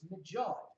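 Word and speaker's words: mjöd: it's not mead, it's majod.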